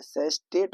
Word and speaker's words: sestet: Octave जो कि 8 line का होता है, दूसरा सेस्टेट, ये स्पेलिंग मिस्टेक है, सेस्टेट होता है SESTET, सेस्टेट, ये 6 लाइन का होता है।